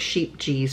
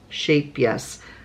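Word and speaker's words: Scheepjes: got some shap yes which looks like sheep G but it's actually pronounced shape yes um it's a Dutch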